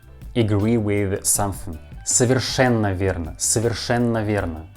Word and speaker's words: совершенно: Совершенно верно, совершенно верно. And the word совершенно has two letters O, but you need to pronounce these letters like A. Совершенно, not совершенно. We pronounce like совершенно, совершенно.